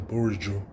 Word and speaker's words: Bourigeaud: All right, let me talk to you about this next player, and that is Benjamin Bourigeaud, which is French. Yeah, you damn skipper, your boy knows how to pronounce some names.